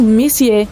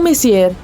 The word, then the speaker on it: Messier: Bom, o M significa Messier, pronunciado Messier e não Messier.